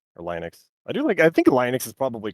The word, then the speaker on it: Linux: You can get going when you're talking about Linux or Linux. I think Linux is probably correct. I haven't heard anyone pronounce it that way, but it makes more